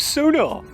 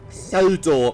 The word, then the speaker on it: Sodor: on the island of sonar i had to take a good train to bridlington and it's pronounced sodor merlin very well then